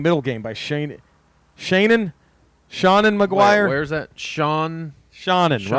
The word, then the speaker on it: Seanan: how you pronounce it you should be like it's pronounced shannon yeah my name is